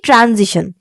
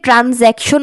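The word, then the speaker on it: transition: ট্রানজিশন। ট্রানজিশন কোনগুলো? চলেন দেখে আসি। এটাকে অনেকে ট্রানজেকশন বলে। বাট এটার আসল উচ্চারণ হচ্ছে ট্রান্জিশন।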